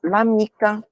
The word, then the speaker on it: l'amica: Então, por exemplo, l'amica, l'acqua, tá? Tem essa pronúncia mesmo. L'amica, l'acqua, como se fosse uma palavra única, tá?